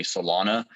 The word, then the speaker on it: Celona: are companies that are professional, like the company Solana.